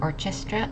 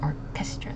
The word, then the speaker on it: orchestra: second one is Orchestra the C and the H make it hard C again so it's not an orchestra it's an Orchestra Orchestra and again emphasizing